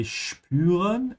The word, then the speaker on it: spüren: But we're going to use the short sentences to remind everyone that whenever you have S that comes before a P, it's pronounced like sh. So this is why we say spüren and später.